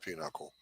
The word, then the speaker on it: pinochle: I know it's pronounced pinochle. I know. It's spelled Pinocchio.